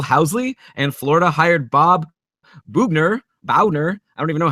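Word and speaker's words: Boughner: Buffalo hired Phil Housley, and Florida hired Bob Bauner. I don't even know how his name is pronounced. Bugner, yeah, because he was like in NHL '94 as a player, right?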